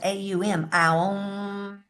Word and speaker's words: Om: Then I also said om can be said au. Barbie and I were talking about this when she called me is pronounced au m.